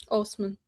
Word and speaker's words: Osman: Marwa Osman is it Osman or Osman? Osman. Osman.